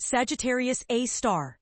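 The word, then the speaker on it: Sagittarius A*: This is Sagittarius A, pronounced Sagittarius A star, the super massive black hole lurking right at the very center of our own Milky Way galaxy.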